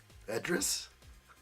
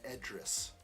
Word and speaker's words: Idris: You're saying it's pronounced with an E sound? Because there is an I, and you're saying that is pronounced Edris.